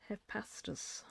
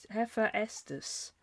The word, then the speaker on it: Hephaestus: Hepastus. How do you say that? Hephaestus.